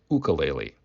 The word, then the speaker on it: ukulele: their very small size the proper pronunciation for ukulele is ukulele and how it got